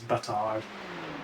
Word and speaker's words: Bastard: There's a guy that I think he's about 3.5K, and he's French, and the way that you pronounce his surname is Batard, but it's spelled bastard.